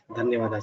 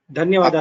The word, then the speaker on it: धन्यवाद: Dhanyawada. Thank you very much. The Mahaprana can be pronounced better.